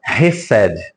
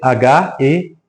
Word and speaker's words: Hesed: A palavra Hesed. Se escreve H-E-S-E-D.